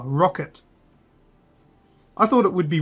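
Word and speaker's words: Roccat: or the rocket cover that's how they pronounce it in the uh the trailer rocket I thought it would be rockat cuz there's like a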